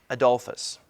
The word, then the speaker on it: Adolphus: Gustavus is spelled G-U-S-T-A-V-U-S. Gustavus Adolphus.